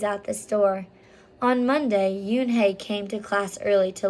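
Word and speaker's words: Unhei: joey your name is un hey he asked with his eyes open wide oon hey replied looked quickly at mr kim then turned to joey she nodded slowly yes it's pronounced yoon hey and it means grace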